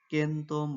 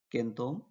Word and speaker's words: কেন্তম: প্রাচ্যের উচ্চারণ রূপকে শতম পাশ্চাত্যে সি সমান কে উচ্চারণ করা হতে বলে সেঞ্চুরি শব্দের পাশ্চাত্যের উচ্চারণ রূপকে কেন্দম বলে অভিহিত করেছেন ইন্দো ইউরোপীয়